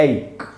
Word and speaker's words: ache: इसका प्रोनाउंसिएशन है दोस्तों एक।